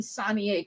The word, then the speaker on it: Sonier: First of all, am I saying Sonier correctly? It is. It is. It's from Wow. Louisiana. Yeah, it's Okay. from Louisiana and it's French. So yes, it's pronounced Sonia.